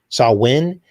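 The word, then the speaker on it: Samhain: the festival of Sa- Sa- I guess you pronounce it Sam- Sa- Win is how you pronounce it. But it looks like Sam Hain is the way it's spelled. And uh and if you read about Sa- Win, they This is the time that they would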